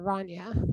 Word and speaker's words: Rania: It's like Tanya, but with an R, Rania.